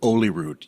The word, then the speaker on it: Holyrood: I mean, there's a place called Holyrood, but if you're from there, you actually pronounce it Holyrood. You'd get rid of the H sound.